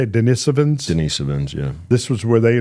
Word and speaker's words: Denisovans: Denisovans, yeah.